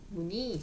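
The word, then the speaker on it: 무늬: 자을 첫소리로 갖고 있는 무니 니 니는 니가 아니라 무니 그렇게 읽으시면 된다 자 그러면 희망은 그대로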